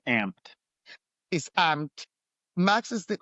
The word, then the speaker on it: Amped: Is that how you pronounce it? It's amped.